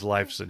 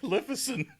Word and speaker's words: Lifeson: Darin knows the dude's name is Lifeson. He knows that. Like Liffison.